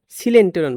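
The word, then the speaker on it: coelenteron: ফাঁকা জায়গাটা থাকে এটাকে সিলেন্টেরন বলে। সিলেন্টেরন কেন বলে? সিলেন্টন দেখো কোত থেকে আসছে। সিলেন্টেরন দেখো এখানে সিল। এটা হচ্ছে সি ওই এল। এটা উচ্চারণ কিন্তু কয়েল না। উচ্চারণ সিল।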